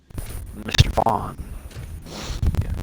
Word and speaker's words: Mr Vaughn: my name is if you don't know how to pronounce my gamertag mr vaughn yeah i've had i